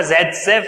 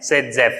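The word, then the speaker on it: Zaitsev: वैसे नाम इसका जेटजेफ है, लेकिन हम इसको प्रोनाउंस करते हैं सेटजेफ रूल।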